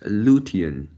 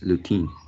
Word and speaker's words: lutein: wood from behind and this one is luthien luthien and you pronounce as lutein yeah and also the